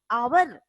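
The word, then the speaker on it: hour: जैसे देखिए first letter consonant है, ये एच क्या है आपका? कॉन्सोनेंट है, पर इसका प्रोनाउंसिएशन क्या है? ये प्रोनाउंसिएशन आपका वॉवेल का है। आवर, आ हमने वॉवेल में लिखा तो आवर, लेकिन ये भी एच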